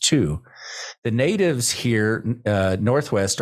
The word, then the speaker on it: Thy: area is called two it's spelled thy but pronounced two the natives here uh